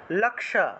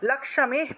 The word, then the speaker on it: লক্ষ্মী: লক্ষ্মী পদ্মা সানা দেবী লক্ষ্মী উচ্চারণ হবে এই যে লক্ষ্মী আছে না আমরা বাংলায় যেটাকে লক্ষী উচ্চারণ করি খিয় তারপরে ম তারপরে দীর্ঘ ইকার তারপরে বিসর্গ ছিল এটাকে আমরা লক্ষ্মী উচ্চারণ করব লক্ষ্মী এখানে ভেঙে দিয়েছি লক্ষ্মী